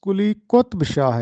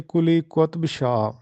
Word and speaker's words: قلی قطب شاہ: جغرافیہ کو جگہ دی۔ تو یہ درست تلفظ قلی قطب شاہ ہے، قطب نہیں ہے بلکہ قلی قطب شاہ۔ چھٹا سوال ہے کہ